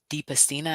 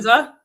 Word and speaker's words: Dispenza: I was listening to last week our guest talked about Joe DiPastina, I think is how you say his last name. Dispenza.